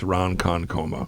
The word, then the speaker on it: Ronkonkoma: I'm like, it's Ronkonkoma. It's better The way it's spelled.